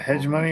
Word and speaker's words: hegemony: beautiful yes I can gain hegemony is that hedg money or hegemony Alexa how would you pronounce oun h e g e m o n y i pronounce that hegemony but I'm always working on